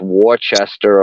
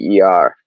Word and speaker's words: Worcester: And it's funny because most people that don't know Worcester, they'll look at the word and it gets pronounced Worcester a lot of the time. Because it's Worcester. Yeah, see, that's how I would pronounce it. Right. It's Worcester. So you could like spell that out. That would be like Wissstah. Like that's the way that I say it.